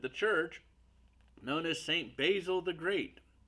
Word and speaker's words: Basil: church known as Saint Basil the Great. Some would pronounce it Basil, but basil, like the basil leaf.